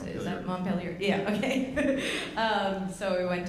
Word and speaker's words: Montpellier: I don't know how to pronounce it. Is that Montpellier?